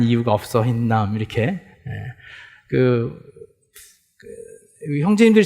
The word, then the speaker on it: הינם: 앞에 그 모음이 2개 붙어야 되는데 이렇게 점 2개가 이렇게 붙으면 맞는데 우리 한글 발음대로 흰남이라는 단어, 흰남.